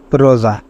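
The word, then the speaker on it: rosa: বা ভাওয়েলস অক্ষর থাকে তাহলে এস এর উচ্চারণ জ হবে যেমন রোজা এখানে এস এর আগে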